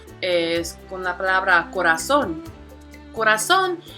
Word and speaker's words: corazón: Corazón, we see here that there are 3 syllables, which are corazón. Again, the stress falls on that last syllable, and because of this, we call it una palabra aguda.